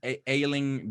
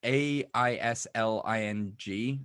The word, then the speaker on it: Aisling: Isn't it Aisling? Yeah. Isn't it pronounced Aisling? I don't know how the pronounce. You're probably right. It's Aisling. So I'm pretty sure you pronounce it Aisling, but Aisling. Okay. You're probably right. I mean, she's Irish.